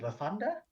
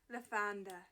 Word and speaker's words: Lathander: Lirius, Faye, and I said to her, like, I think How do you pronounce it? Lasanda? Lathander.